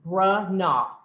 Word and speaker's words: Bronaugh: those two locations and it is pronounced brah nah granola so phonetically a b-r-u-h-n-a-w so glad to be